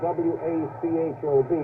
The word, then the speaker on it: Wachob: And at left end is Pete Wachob. Now that's spelled W-A-C-H-O-B, but pronounced as in K, Wachob.